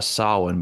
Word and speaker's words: Samhain: I mean, it's pronounced it's pronounced Samhain, but it is definitely spelled Samhain.